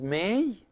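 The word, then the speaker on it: ⲙⲉ: Now there's another word which is may, and the derivative from may is may, and may is to love or to like. And May is pronounced like the month of May.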